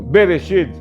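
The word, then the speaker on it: בראשית: Nós vimos isso lá quando iniciamos a nossa colocação a respeito do Bereshit, que na realidade são duas palavras, B, depois Reshit. Então, mas é pronunciado junto, Bereshit, no princípio.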